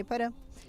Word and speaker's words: Iporã: Está aqui conosco o Iporã, assim pronuncia, Iporã?